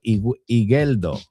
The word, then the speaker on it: Igueldo: It's a soft G, not a G. So, Igueldo, ¿no? ¿Qué es lo que no pronuncio la U?